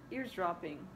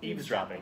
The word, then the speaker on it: eavesdropping: just sort of um ears ears dropping. Do you say it like that? Eaves dropping. Eavesdropping. I always think it's ear eavesdropping on what the people were saying.